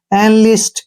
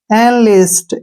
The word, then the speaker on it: enlist: Next word है ENLIST, ई के बाद एन आ गया तो ए का उच्चारण करेंगे ए, ठीक है ना, और एन का उच्चारण न हो गया, एल का उच्चारण ले और आई से बन गया ई और एस का उच्चारण से और टी से टी।